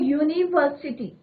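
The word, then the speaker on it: university: अभी मैंने आपको बताया था, तो यहाँ पे प्रोनाउंसिएशन किसका हो रहा है, यू का हो रहा है बच्चों, नहीं हो रहा है, यूनिवर्सिटी, लॉन्ग यू हम कॉन्सोनेंट साउंड आ रहा है।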